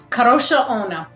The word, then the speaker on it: Kadrolsha Ona: KADROLSHA ONA, which just means Carolyn Ann.